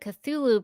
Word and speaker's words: Cthulhu: Yeah, it seems like the Cthulhu pronunciation is the most common, and so that's kind of what a lot of people go with.